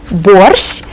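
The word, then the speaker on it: борщ: that's the name of another soup Bor Bor borch is cooked with beetroots and is very very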